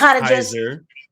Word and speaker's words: Caesar: He is Caesar. All hail Caesar. All hail the king. It's pronounced Kaiser.